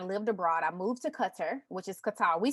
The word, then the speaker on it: Qatar: in 2018 i lived abroad i moved to qatar which is qatar we say guitar but you know that's just how we talk but it's pronounced culture which is one of the wealthiest countries in